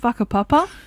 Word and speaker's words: Whakapapa: I'd like to preface this with a WH in Māori is an F phonetically, so it is called whakapapa, which I didn't know until halfway through the hike and someone had told me.